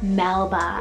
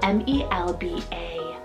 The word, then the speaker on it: Melba: Greek rooted name meaning Defender then we have Melba spell m e- lb a Melba I think this is stunning and also